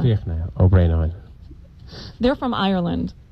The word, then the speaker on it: Fiachna: And I'm going to have to ask you to pronounce Figgy. How do you say your name? Fiachna. Fiachna.